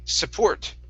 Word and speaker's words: support: okay next is um support support instead of support okay the stress is at the end of the board support support support support okay